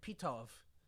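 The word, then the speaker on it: Pitof: but the director was a French artist named PTO which is spelled literally pit of oh all right well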